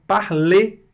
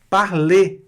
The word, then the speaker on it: parler: Então, por exemplo, a palavra parler. Observem. Parler, escute e repita. Parler não foi pronunciada a consoante R no final aqui. Parler, com E fechado. R não se pronuncia.